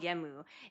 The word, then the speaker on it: Genmu: Dan Kuroda, but his Kamen Rider name is called Kamen Rider Genmu without a U. Like it's spelled without a U, but it's called Genmu.